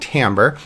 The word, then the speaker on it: timbre: know it has an eye it looks like Timber if you want to call it timber that's fine but it's technically pronounced Timbre and I want to I want to kind